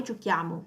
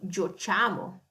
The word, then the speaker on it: giochiamo: Because if we were to say the tu giochi and noi giochiamo without the H, how would we pronounce it? Differently. We would pronounce it tu giochi e noi giociamo.